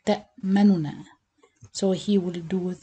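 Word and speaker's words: تَأْمَنَّا: And the second way, you pronounce the noon normally without merging, but you make it like two-thirds of the vowel count. This called raum or ikhtilas. So you read it like ta manuna.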